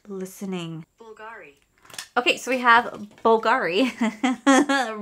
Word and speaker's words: Bulgari: you meant be l g i it is pronounced as Bulgari no God she is not listening Bulgari okay so we have Bulgari Rose perfume okay